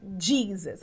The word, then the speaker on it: Jesus: dele então divisas é Jesus em inglês se pronuncia jeans repete aí depois de